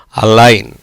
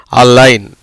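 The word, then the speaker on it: align: அப்போ அந்த ஜிக்கு உச்சரிப்பு இருக்கா? இல்லை. எப்படி வந்துடுது? அந்த ஜி எடுத்துட்டா மிச்சம் என்ன இருக்குது? இன்னு மட்டும் இருக்குது. எப்படி உச்சரிக்கப்படுது? அலைன். எப்படி உச்சரிக்கப்படுகிறது? அலைன்.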